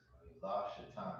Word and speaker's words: Shaitan: Shaitan. La Shaitan is how you say it.